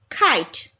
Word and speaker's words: kite: The first vowel first vowel I will take the long vowel sound, that is I, and the second vowel is silent. K, K, I, T, kite.